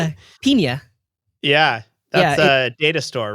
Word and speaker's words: Pinia: Pinia.